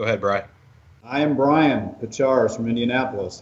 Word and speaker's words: Pachciarz: You said it perfect. Pachciarz. It's 2 syllables, pa and chars.